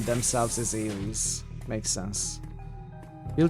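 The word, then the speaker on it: Ares: Well, not as in England, but you know, they probably pronounce their name themselves as Aries. Makes sense. We'll call it Aries.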